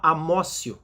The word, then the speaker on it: amotio: E para os nossos tribunais superiores, prevalece uma teoria que se chama amócio, se escreve amotio ou apreensio.